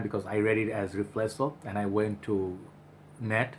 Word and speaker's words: Riflesso: Okay, and I kind of got that right first time because I read it as Riflesso, and I went to net and I checked how do you pronounce it and what does it mean.